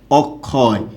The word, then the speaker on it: অক্ষয়: আমি বললাম হচ্ছে এরকম লিখলাম অক্ষয়, একটু খেয়াল করুন, অক্ষয়। এই যে শব্দটা আছে এটার উচ্চারণটা কী হবে? অ, যেহেতু শব্দের মাঝে আছে তার মানে এটা হচ্ছে ক যোগ খ, অক্ষয়।